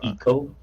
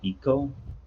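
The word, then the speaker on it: Iko: i think it's like eco yeah i ko i think it's pronounced eco so he's a phenomenal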